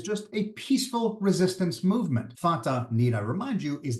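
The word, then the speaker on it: Fatah: then tier then harakat f a t pronounced in English as fata they're not even hiding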